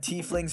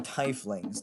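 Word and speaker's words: tiefling: situation next we have tea flings or Thai flings depending on it with your pronunciation of the word they resemble demons and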